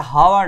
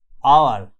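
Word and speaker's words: hour: এটা অ্যান হচ্ছে অ্যান আওয়ার আওয়ার এটা হাওয়ার নয় আওয়ার আমরা সবাই জানি এটা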